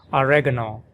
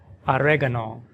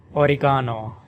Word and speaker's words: oregano: This word is pronounced in American English as oregano, oregano, oregano, with the stress on the second syllable reg, oregano. And in British English, oregano, oregano, with the stress on the third syllable ga, oregano, oregano.